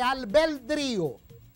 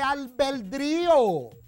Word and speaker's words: albedrío: Dios mío, no se dice albedrío. No, querida Paraguaná, no, el presidente se equivocó de manera dantesca. No es albedrío, es albedrío. Albedrío.